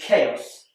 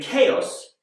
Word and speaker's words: chaos: And finally, chaos. This is spelled with a CH. And CH is more commonly pronounced ch, like in church. But in chaos, it's a k, like in cat.